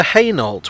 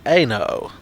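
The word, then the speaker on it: Hainault: thing everyone can agree on it's similar to heynolt which looks like it should be pronounced eno but isn't i just like saying french words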